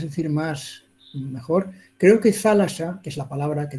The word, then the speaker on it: θάλασσα: Antes era thalata, en vez de thalassa, de S, era ta, y se decía, se pronunciaba thalata, pero hoy en día es thalassa, es una palabra muy bonita que ayuda mucho, además.